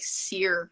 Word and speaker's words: Syracuse: Known that you were from, because the way that you say, I say Syracuse because I moved out when I was 6. Yeah. People who live in Syracuse, they say it like Sear.